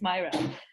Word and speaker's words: Myra: My name is Myra. Myra, sorry. Yeah. How do I spell that?